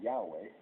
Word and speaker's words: Yahweh: The other reason that God does not have a name other than Yahweh was, the Jewish word without vowels, okay, and the closest you could pronounce that would be Yahweh, is because God is the creator.